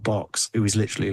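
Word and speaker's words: Bochs: But Box is spelled B O C H. B O C H S. His name's Box.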